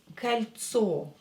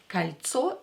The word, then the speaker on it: кольцо: Another word that we are going to learn today is кольцо. Кольцо. Кольцо is a ring. Кольцо. This O will be pronounced as A because it's not stressed.